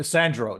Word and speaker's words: Sandro: I Sandro. That's how you say my name.